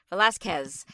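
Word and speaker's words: Velázquez: Velazquez.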